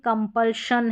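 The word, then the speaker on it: compulsion: यहाँ पर देखिए कंपल्शन है, कंपल्शन।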